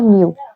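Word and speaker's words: μ: Refractive index, इसको म्यू से जाहिर किया जाता है, मी डब्ल्यू म्यू, यानी कि ये है इसका सिंबल, इसको प्रोनाउंस करते हैं म्यू।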